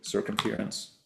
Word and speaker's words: circumference: I mean, the accent is on the second syllable.